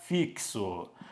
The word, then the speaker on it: fixo: nós colocamos a Oi fixo ou quando nós colocamos essa outra palavra vem comigo fixo existem quatro letras como X tem som de KS é uma mais 5